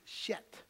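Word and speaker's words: שֵׁת: And actually, in Hebrew, Seth is pronounced Shet.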